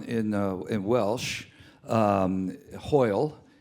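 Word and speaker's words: hwyl: uh in Welsh um hoil is uh is you know high and also goodbye but I want to tell you how it's spelled it's spelled h w y l hoil okay now this is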